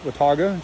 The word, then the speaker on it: Watauga: in watauga lake uh it is pronounced watauga so wata lake uh my friend was